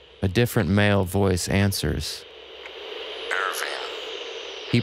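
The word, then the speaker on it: Ervin: A different male voice answers, "Irving." He pronounces it as one does in Hungarian or in German, with the E as in extraordinary and not as in earth.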